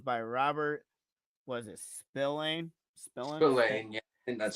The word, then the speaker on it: Spillane: Spillane, yeah, and that's how you pronounce Spillane.